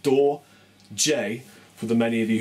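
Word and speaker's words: Dorje: from my band doj d o r j e pronounced door J for the many of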